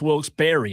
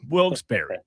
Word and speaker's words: Wilkes-Barre: And the customer of mine out there said, "Oh, it's Wilkes-Barre." I said, "Well, that's not how you spell Barry." And they said, "Yes, Wilkes-Barre."